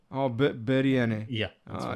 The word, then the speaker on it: biryani: But I don't know how to pronounce It's it. Yeah. biryani. Oh, biryani.